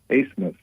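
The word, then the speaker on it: Abmas: It's Max, it's pronounced Asmus. Like, I think I read somewhere it's like a German pronunciation, although I don't think he's German.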